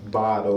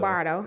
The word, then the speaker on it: Bordeaux: from Nashville, right, and I grew up in the Bordeaux area. Okay, myself. Bardo. I know they be coming at me for not saying it right. So you said it right, but you didn't say it Nashville.